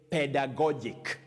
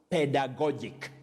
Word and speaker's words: pedagogic: first one takes the sound so you say pedagogic this adjective is pronounced pedagogic can you try it at home pedagogic so you can talk of pedagogic scales if